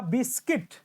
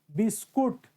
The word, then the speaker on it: बिस्किट: अब बात आती है कि मैक्स गेव अ बिस्किट। बहुत लोग प्रोनाउंस करते हैं बिस्कुट ना, मेरे बच्चे बिस्कुट तो नहीं प्रोनाउंस, बहुत लोग प्रोनाउंस कहते हैं, होता है प्रोनाउंस, और बिस्कुट नहीं, बिस्किट।